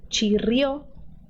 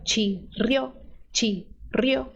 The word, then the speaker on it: chirrió: El cerdo chirrió. Aqui, ó, chirrió, tá? Não tem que ser chirrió. Chirrió, tá? O brasileiro costuma juntar essas 2 sílabas, mas elas é uma só.